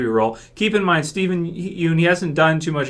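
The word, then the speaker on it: Yeun: done too much where people say it's pronounced Yan so sorry if my pronunciation is wrong of his last name I've heard him called Yun before so okay Yan I guess um he he hasn't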